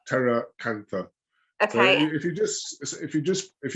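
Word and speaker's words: pteracantha: at pt yeah but the p is is silent so it's terra cantha okay if you just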